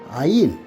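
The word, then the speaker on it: עין: 그 에인네의 첫 글자 아인 아인이 아인이라는 히브리어 고대 히브리인들이이 현재는 이렇게 쓰는데요.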